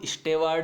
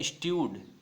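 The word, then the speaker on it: steward: ठीक है, ये कोई स्टेवार्ड नहीं है, स्टवार्ड नहीं है, इसमें डब्लू का कोई सेंस है ही नहीं, न इसमें आर का सेंस है, ये आप बात नोट करें। ठीक है, न तो इसमें डब्लू का कोई सेंस है, न इसमें आर का कोई सेंस है। इसका प्रोनाउंसिएशन होता है स्ट्यूड।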